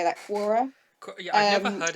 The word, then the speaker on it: Quora: So I thought it was interesting because I found a thread on Cora, how do you say that, Quora.